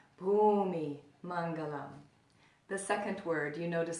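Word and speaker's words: bhūmi maṅgalam: that I'll explain later there's only one count so the first word Bhoomi Hmong alone say that with me Bumi Mangala the second word you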